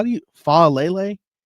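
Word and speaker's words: Faalele: How do you Falele? You pronounce the entire Lele.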